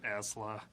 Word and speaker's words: Isla: is it Isla or Esla? I better look it up online and see how other people pronounce it.